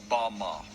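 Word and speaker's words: בָּמָה: which satan fell is strong's hebrew word 1116 pronounced bama bama is most commonly used to refer to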